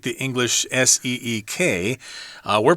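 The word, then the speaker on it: Siq: Okay, it's not like the English S-E-E-K. We're pronouncing this as Seek. It's possible it's pronounced sick, but I don't want to say it that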